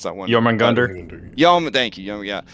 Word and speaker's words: Jormungandr: I can't pronounce that one. Jormungandr?